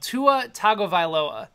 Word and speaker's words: Tua Tagovailoa: Tua Tagovailoa is how you say his name, or in the Harry Gary voice.